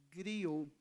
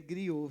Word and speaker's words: griô: pra gente tão interessante é Grio é griô seu pronunciou é griô é uma palavra francesa que alguns a França